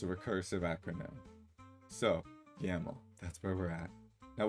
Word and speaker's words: YAML: ain't markup language it's a recursive acronym so yaml that's where we're at now what goes in your tasks. yaml file uh research task description conduct a thorough